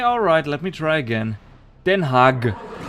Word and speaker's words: Den Haag: Den Haag. Which is in no way how we Germans pronounce our G's.